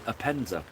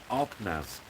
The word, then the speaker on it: Arpenaz: pronounce things wrong so I keep calling this the appena it's not it's called araz the K araz so I will say